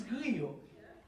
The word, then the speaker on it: griot: food, I never somebody call griot lechon. It's griot.